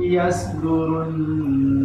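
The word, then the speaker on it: يصدرون: Yasdurun ya, tebal isti'la itbaq.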